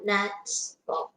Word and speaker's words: gnats: The G is silent.